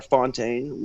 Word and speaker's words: Fountain: uh type uh jason fountain or fontaine was how you might want that's how they pronounce it in latin america fontaine but but jason fountain is easiest way to